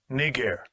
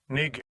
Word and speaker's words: Niger: For those that may not know how to pronounce that word, let me just let you hear it. Strong's G 3526. Niger. Niger.